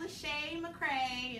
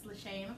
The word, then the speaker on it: Lachey McCray: I'm Lachey McCray, and that's my real name. It rhymes, Lachey McCray.